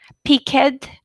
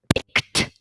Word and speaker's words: picked: Okay, so this is shopped, picked, wished, crunched. Okay? Once again, shopped, picked, wished, crunched. All voiceless sounds should be pronounced like t.